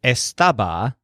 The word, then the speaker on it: estaba: we end up with estaba which refers to Joel or the lizard it still has the stress on stub like stab but it's a simpler